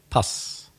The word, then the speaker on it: pus: In Spanish, pus, I know, but in English you pronounce it pus.